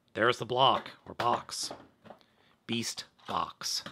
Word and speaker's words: BeastBOX: BeastBOX, not BeastBLOX.